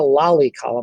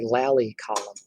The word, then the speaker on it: lally column: It's not a lolly column like a lollipop. It's a lally column.